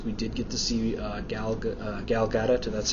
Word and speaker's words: Gal Gadot: Second part of news is we did get to see Gal Gadot. That's how I understand she pronounces it.